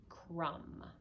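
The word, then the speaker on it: crumb: is M B and when you have M B that will always come at the end of a word like in the word I should move it over a little bit you get the idea that's the word Crum and notice it's not Crum the B doesn't make any noise Crum okay if you have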